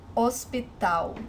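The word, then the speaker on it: hospital: as in English but remember that in Portuguese when the age is is the first letter of the word it is silent ospital also remember the sound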